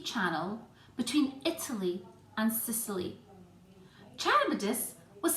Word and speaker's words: Charybdis: of different ways, but I'm going to call these monsters, Scylla and Charybdis. I hope that's the right way to pronounce it. I've actually looked up how to pronounce it and that's how they suggest, so let's go with that.